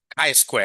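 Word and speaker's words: chi square: How do you pronounce this? Not T. K square, isn't it? Yeah. K square. So K square like that.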